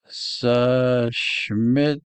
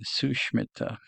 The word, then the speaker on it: Sushmita: We have a tough one. Sushmitra. Sushmitra or Sushmitra. Let's see if Excel Man knows this one. Sushmita. Sushmita. All right, Sushmita.